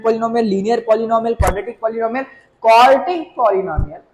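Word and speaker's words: quartic: उसका नाम होगा भाई क्वार्टिक। आई एम not saying क्वाड्रेटिक, आई am just saying क्वार्टिक।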